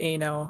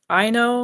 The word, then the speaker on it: Ano: Well, I pronounce it Ano. I think Chris pronounces it I know, like a little differently, but she's just a I bundle of joy.